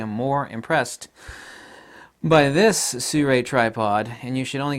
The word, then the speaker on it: Sirui: I'm always mispronouncing SIRUI tripods because I'm used to saying SIRUI, but it's SIRUI, like you're going to sue somebody, and a manta ray, so SIRUI.